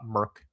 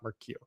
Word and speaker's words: Merc: Short for mercenary. Merc. Yes, thank you. Uh I might have I probably I was saying it wrong. So, but we'll say we'll keep that in mind. It's uh Merk Lounge, not Mercq.